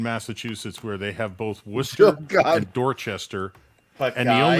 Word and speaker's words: Worcester: See, your mistake is you're not supposed to pronounce the R. Yeah, Worcester. It's like Worcester.